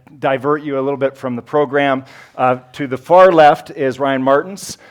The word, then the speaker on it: Toth: To his right is, and pitching in, thank you to Toth, who you're also going to be hearing from. It's pronounced Toth.